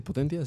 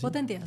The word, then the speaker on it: Potentia: Potentia. Sí, Potentia.